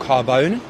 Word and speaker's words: Carbone: It's called Carbone. Carbone, that's how you pronounce it.